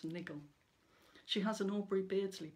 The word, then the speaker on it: Nigel: his own right with good dog nigel which i pronounce niggle she has an aubry